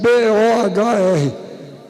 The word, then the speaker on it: Bohr: Inclusive Bohr se escreve B-O-H-R, que os gringos têm mania de usar a letra que não precisam, né? O que é que esse H está fazendo aí? Bohr, B-O-H-R.